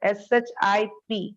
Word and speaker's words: ship: Pronunciation is really important. SHIP is ship. SHEEP is sheep. E sound double the time. See, so see here, sheep and ship.